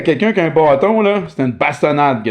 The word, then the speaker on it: bâton: Donc, bâton. Bâton, dépendant où on vit en francophonie. So, bâton, depending on where we live in the francophone world.